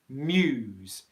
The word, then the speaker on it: Muse: called muse and again this is the pronunciation of their name muse muse with that yeah so there's kind of two things to be aware of here one is the mere consonant combination and then the ooh with a zed sound